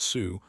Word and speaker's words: Xu: and it turns out there are names in Chinese that are pronounced Sue or close to it. The closest one is a family name written in English as xu or su either way.